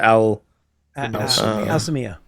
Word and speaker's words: Al-Sāmiyah: Al-Sāmiyah. Al-Sāmiyah. Yeah. Yeah, I can actually give you a pronunciation of it right here.